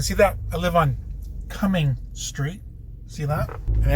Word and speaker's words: Cumming: You're saying Cumming. And they're like, how do you spell that? You're like, spell it like it sounds. Not when you're coming, it sounds like coming.